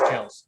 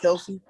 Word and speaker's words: Kelce: By the way, we're all saying his name wrong. It's Kels. It's Kels. Kels. I just that was like a big thing. He was on a podcast. He's like, my last name's pronounced Kels, but everybody's called me Kelsey my whole life, so I just roll with it. So it's Travis Kelce, not Kelsey? I guess so.